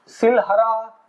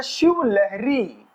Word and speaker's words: शिवलहरी: और वैसे ओरिजिनली ये जो है शब्द खराब हो गया है समय के साथ, उच्चारण की गलती है। इसका असली नाम है शिवलहरी, शिवलहरी की गुफाएं।